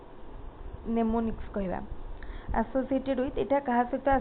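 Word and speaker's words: mnemonics: अच्छी माने हमर एटी एम टा ताको माने साइलेंट रहइबो नेमोनिक्स कहबा एसोसिएटेड विथ एटा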